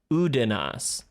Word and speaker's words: Udanas: But he does, let the record show, he does pronounce his name Udanas.